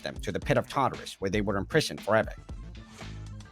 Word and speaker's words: Tartarus: Tartarus? Tartarus. Oh, Tartarus. Sounds like TARDIS.